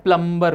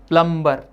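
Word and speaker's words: plumber: आप बुलाते हैं प्लम्बर को। प्लम्बर गलत, प्लम्बर नहीं होता, प्लमर होता है, उसमें बी साइलेंट होता है।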